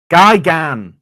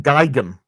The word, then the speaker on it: Gigan: Gigan. The emphasis on the sec the A. You guys are saying Gigum.